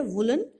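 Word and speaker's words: woollen: उसी प्रकार ये जो वर्ड है वुलन, इसकी करेक्ट प्रोनाउंसिएशन यही है वुलन, व पे छोटे ऊ की मात्रा ही आती है वुलन,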